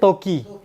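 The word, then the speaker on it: 時: এ দুইটাকি অথবা বাজি যেমন ইচিজি একটা নিজি দুইটা কানজি এটা আর যখন এটা ঘড়ির কাটা ছাড়া অন্য জায়গায় বসবে তখন উচ্চারণ হচ্ছে তকিন সিঙ্গেল বসলে এ উচ্চারণ কি তকি সিঙ্গেল বসলে তকি বলছে এটা এটা আকব কিভাবে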